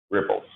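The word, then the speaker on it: Replit: So all the programs you write here, they call them ripples. Whoever decided how that should be pronounced, said it should be ripple. I would have gone with repel myself, but so every program you write on here is called ripple.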